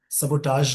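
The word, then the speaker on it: sabotage: इस वर्ड का जो प्रोनाउंसिएशन होगा, सबोटाज होगा।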